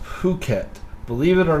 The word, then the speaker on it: Phuket: being effing flat Bombay Phuket is pronounced Phuket believe it or not